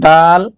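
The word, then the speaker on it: دال: কিন্তু উচ্চারণে হচ্ছে দাল হচ্ছে স্বাভাবিকভাবে উচ্চারণ হবে দাল, আর হচ্ছে জাল হচ্ছে নরম হবে, যেটার আগা সামনে থাকবে। মোস্তফা যে লেখার সময় আর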